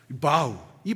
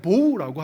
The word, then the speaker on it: bow: B O W이 보우 여러분들 단어 잘 아시잖아요. 영어 시간에 선 영어 선생님이 항상 우리한테 인사시키죠. 바우 바우이 바우가 보우거든요. 이게 구불이다라고 하는 동사로 사용될 때 숙이다, 인사하다고 할 때는 발음이 마우예요. 그런데 이게 명사용으로 사용돼서 무지개를 가르칠 때는 보우입니다.